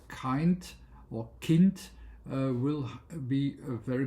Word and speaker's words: Kind: And you also have the yeah German word for instance kint which is exactly pronounced as it is written and that means child.